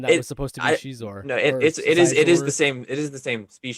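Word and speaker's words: Xizor: Shizor, that's how you say it.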